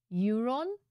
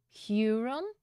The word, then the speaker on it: Huron: in a year on how do you even pronounce that euron Huron the H silent I haven't been around